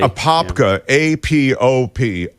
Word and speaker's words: Apopka: So I guess you say it like Apopka. But when I say his ex-wife's home in Apopka, it sounds like in Apopka, but it was actually in this place, Apopka. Right.